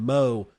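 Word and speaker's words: Mow: it however that's why I will continue to pronounce Samson's last name Mo because I know for a fact that that's how you actually pronounce it let's go on to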